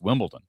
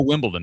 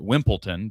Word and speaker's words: Wimbledon: They couldn't even tell you that the US Open is a major, but they know Wimbledon. They may pronounce it Wimpleton because they have no idea what they're saying, but they do know the name, you know, it's just one of those things.